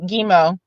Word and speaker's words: Gemo: before I forget the other half of my name gimo uh pronounce it pronounce it it's G so like a so like for an example maniac mgee just say it like that uh so gimo basically